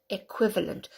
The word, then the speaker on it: equivalent: acquisition and there again the Qi has that W sound a quick equivalent equivalent with a cut sound